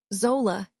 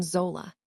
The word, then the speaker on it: Zola: Zola, he said finally. My name in his mouth. He pronounced the O long like he had been practicing it.